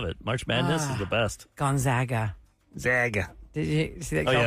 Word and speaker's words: Gonzaga: yeah I love it Madness is the best Gonzaga zag did you see that then he said